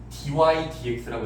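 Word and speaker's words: dy/dx: 읽을 때는 분자부터 읽어야 되기 때문에 dy dx라고 읽어요. 다시 분자부터 읽어야 되는 게 관습이라서 dy dx.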